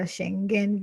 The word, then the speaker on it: Schengen: does the shenanigans i don't know how to pronounce it yeah uh-huh should get a schengen visa so you get to travel wherever you